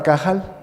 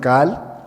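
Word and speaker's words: קהל: la palabra cahal cahal algunos judíos la pronuncian no pronuncian de plano cahal sino cal porque es difícil de pronunciar esa letra un poquito cuesta un poco de trabajo y entonces para no equivocarse y decir otra cosa ya nada más pronuncian cal y significa Exactamente lo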